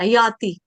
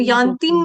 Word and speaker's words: याति: हाँ ललिता माता जी, यांतिम नहीं है, ती के आगे म नहीं लगाना, याति। ततो याति परांगतिम, यांतिम नहीं है, याति। म भी नहीं है और बिंदी ऊपर नहीं है।